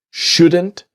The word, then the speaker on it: shouldn't: Things just shouldn't be so complicated and things just shouldn't be. So the T in just is silent and the T in shouldn't silent.